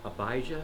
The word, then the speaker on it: Abijah: So I wanted to ask Abijah, is that how you say it? Yeah. Could you speak a little bit about your experience actually having built one of these?